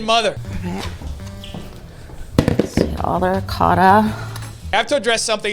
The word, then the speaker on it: ricotta: The way my Italian family says it is ricotta. That's how you say it.